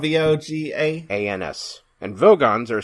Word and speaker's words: Vogons: The Vogans, not the Vogons. This is the second Hitchhiker's reference in this podcast. I did say that when we were watching this episode. I was like, did he say Vogons?